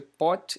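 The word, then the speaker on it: Bothe: físicos alemães aqui ó nome dele se escreve bote e Becker mais pronuncia pote e packer eles bombardearam aí berílio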